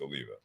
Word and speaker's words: Oliva: And a lot of times I do have people like, Olivia, is that how you say it? I'm like, actually, it's Oliva.